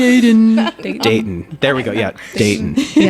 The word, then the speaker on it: Dayton: I've gotten better with not pronouncing the t in Dayton cuz when I first I'm like Dayton and people nobody says that there's like it's like dayton like Dayton.